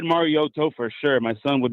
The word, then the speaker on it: Mariota: And Collinsworth's like, Marcus, how do you say your last name the right way, brother? And he's like, Mariota. And he's like, so it's Ta, it's not Oda? He's like, yeah.